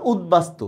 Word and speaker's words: উদ্বাস্তু: উপসর্গের সাথে যদি কোনো বফলা থাকে তার উচ্চারণও বহাল থাকে। যেমন উদ্বাস্তু, স্যার আসলে এই নিয়মটাই আমি দুইবার লিখতেছি।